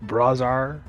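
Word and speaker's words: Brahzar: your name wrong dude with praise are I always do b-r-a-h-z-a-r hey whatever bras are I see it that's Brit Bray and then Czar but yeah I'm sure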